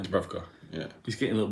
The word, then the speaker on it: Dubravka: Dubravka.